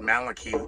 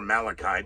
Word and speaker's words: Malachi: And if the prophecies of Saint Malachi or Malachi, depending upon how you pronounce it, were anywhere near accurate, then why